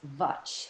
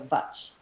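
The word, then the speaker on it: Vāc: Eastern philosophy, the goddess Vach. It's V-A-C with like a little hook on the bottom. And that C is pronounced like a CH, so Vach is a goddess, and she's a goddess of speech and language.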